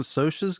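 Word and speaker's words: Socs: Did Did you Did you see some Sosas get killed? Uh, we did. Yeah. Spoilers. Uh, do they pronounce it so or sock in this? Sos.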